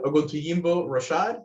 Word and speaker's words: Oguntoyinbo-Rashad: Oguntuyimbo Rashad. Did I get that right? Yes. Thank you. Good afternoon, everyone. Yes, I am Oguntuyimbo Rashad with the City of Miami Environmental Resources Division within the Building Department.